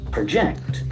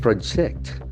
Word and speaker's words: project: thing okay a project so the verb will have the shift of syllable to the second part project project project to calculate something